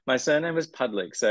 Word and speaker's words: Pudlyk: right my surname was pudlick so it's p u d l y k yeah in in English well Australians pronounce it pudlick so I just roll with that but it's it's actually